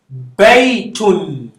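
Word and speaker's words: بَيْتٌ: So you say Hada baytun. Hada bayt. The ya is silent and the ba. So it's not an elongation because it's not an e coming before it. So you just silence it.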